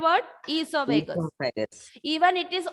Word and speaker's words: oesophagus: Esophagus. Repeat the Esophagus. word esophagus. Esophagus. Even it is O is there. In English, O is silent.